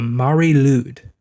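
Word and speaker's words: Mari Lwyd: pronounce this wrong but I believe it's called the Mari lude m a r i lwyd oh so like whales yes well and I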